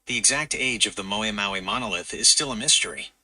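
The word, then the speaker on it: Haʻamonga ʻa Maui: Monga Maui. Moe Maui. It's pronounced Moe Maui. Gotcha, buddy. I got something you couldn't pronounce. Anyhow, it's in the Tongan language, and Hamonga Maui, when you translate it, means the burden of Maui.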